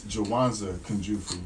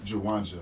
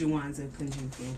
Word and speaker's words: Jawanza Kunjufu: Let me get on you because it's Jawanza Kunjufu, not Jawanja.